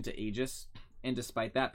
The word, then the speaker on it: Aegis: Aegis and despite that people still mispronounce ages they still call it he just he just that's not easy I always I always heard people say agus that's an egregious mistake no bother me Aegis